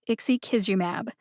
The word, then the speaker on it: ixekizumab: is provided which makes it super easy to pronounce one more time that's ixi kisumab check out the show notes for the pronunciations